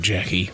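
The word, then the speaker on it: Jacqui: perfect couple there is a character called Jackie which is spelled j a c q u i is a weird way spell did Nico kman write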